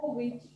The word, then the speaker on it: Jovovich: How do we pronounce this last name? I'm going to make sure I get it correct. Jovovich.